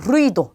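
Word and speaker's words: ruido: 그러면 둘 중에 뒤에 오는 여기에 강세가 온다라는 뜻이죠. 그래서 루이도 이렇게 발음을 하시면 돼요.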